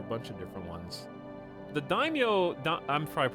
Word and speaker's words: Daimyo: The Daimyo... I'm probably pronouncing it wrong.